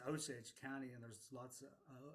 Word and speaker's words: Osage: age with my brothers my Osage Brothers was zaji is how they say it um and so I